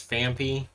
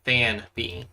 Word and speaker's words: Phanpy: Yeah, I don't know why I enunciated as Phanpy, but like it's supposed to be Phanpy.